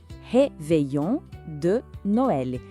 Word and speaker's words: réveillon de Noël: Vamos pronunciar com bastante atenção. Le Réveillon de Noël.